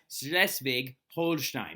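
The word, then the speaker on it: Schleswig-Holstein: second schv war okay now slesvig is how you say these provinces right and it's actually slesvig holin right slesvig Holstein now sches and Holstein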